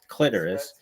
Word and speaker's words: clitoris: Clitoris, not clitoris. It doesn't rhyme with thesaurus. It rhymes with almost like Icarus, clitoris, and There's some people in life when life doesn't go their way and menstruation.